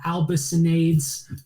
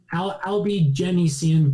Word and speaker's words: Albigensian: And during the Crusades, there's this thing called the Albicinades Crusades, and it's in France. Have you ever heard? I think I'm saying it wrong. Albigenese Crusades. Yeah, Albigensian Crusade.